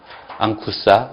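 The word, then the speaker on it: ἄγχουσα: 그 다음에 4번이 감마가 이제 감마, 카파, 크시, 키 앞에서 감마가 붙어 있을 때는 받침 이응 발음이 난다 이렇게 돼 있죠. 그래서 거기 얘가 있는 것처럼 감마가 연달아 있죠. 그래서 아그겔로스가 아니라 앙겔로스 이렇게 된다는 얘기요. 그 다음에 아그퀴라가 아니라 앙퀴라, 라링스, 앙쿠사 이렇게 된다는 얘기입니다.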